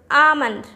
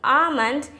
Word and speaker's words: almond: one is the word almond almond not almonds the l in the almond is silent it's almond i am